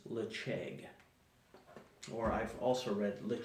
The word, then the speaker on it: Ledaig: bottle so it's spelled if you were to look at it phonetically in English or American Canadian English it would be ledee but in Scotland on the Isle of Mall depending on the accent it is lip shake or I've also red